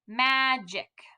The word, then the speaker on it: magic: together ma jic magic if you tried to sound it out with using the normal gu sound you'd say magic magic that's not right and that's why it's